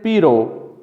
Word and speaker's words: pero: In Spanish, both the trilled R and the flap occur. The former in perro, dog, and the later in pero, but.